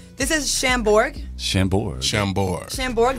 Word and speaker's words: Chambord: Chambord, the A is silent, Speedy.